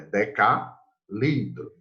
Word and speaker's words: decalitro: Aqui não é decalitro, é decalitro, certo?